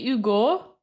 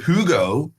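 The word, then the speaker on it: Hugues: who what o well the French you don't pronounce an age at the start of the word right so when his name is spelled hugus h did you mean to say Ugo no because there's no o this is not Hugo it's hug ug so like of the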